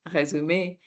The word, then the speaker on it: résumé: For example, the word resume, right? It's a French word, résumé, with that little accent because this is the A sound.